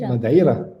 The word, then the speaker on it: Madeira: How do you say that? How you say it? Madeira. Madeira. Just as the locals pronounce it.